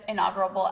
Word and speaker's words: inaugural: But for this inaugural episode, wow, I keep saying that word wrong. How do you say it? It's inaugural. Oh, yes, I'm adding a little B in there.